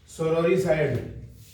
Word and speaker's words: sororicide: Next word है सोरोरिसाइड। SORORICIDE सोरोरिसाइड। और मैं हर बार आपसे कहता हूं शब्द की स्पेलिंग गलत ना हो है ना, क्योंकि जब